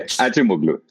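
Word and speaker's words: Acemoğlu: I'm going to try and say Achimoglu.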